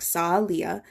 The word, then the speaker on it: Salia: Salia is actually how you pronounce it, like Salia.